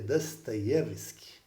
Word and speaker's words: Dostoiévski: vídeos né do dostoyevski que a pronúncia correta seria dostoyevski visto que no cirílico o ó tem som de a alguma coisa assim mas é essa questão